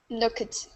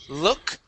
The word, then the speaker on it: looked: So that's how we pronounce the ed ending that sounds like a T at the end.